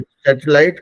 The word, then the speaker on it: satellite: तो सैटेलाइट, सैटेलाइट, सैटेलाइट, सैटेलाइट, सैटेलाइट, मतलब सैटेलाइट को तीन छोटे छोटे वर्ड्स में ब्रेक कर सकते हैं, सैट, एल और लाइट।